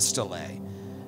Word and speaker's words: Stela: I wrote it in a way that I would pronounce it. You wrote it phonetically? S-T-E-E-L-A.